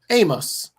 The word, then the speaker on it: Omos: So, so I only know that because that's what they called him on social media is Omos. O M O S, but it's pronounced Amos.